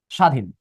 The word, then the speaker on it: স্বাধীন: দশ হবে দিলে কেন স্বাধীন এখানে বফলা হবে না কারণ এমন হবে না ইশবা উচ্চারণ উচ্চারণ হবে স্বাধীন শুরুতে বফলা থাকলে উচ্চারণ হবে না দিলে হয়ে যাবে অসন্ত